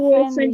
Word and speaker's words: often: How often do you see your brother? How often? Perfect. How often do you see your brother? How often, often, often, often. La T is silent.